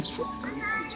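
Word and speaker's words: Puck: This town here is called Phuk, B-H-U-K, Phuk. How they pronounce it, it almost sounds like fuck.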